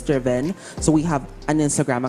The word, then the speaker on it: DRVN: vn ilo PH so it's spelled as Dr vn but it's pronounced as Driven so we have an